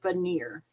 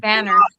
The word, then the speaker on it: Vanner: Is it banner or veneer? Of course. Banner.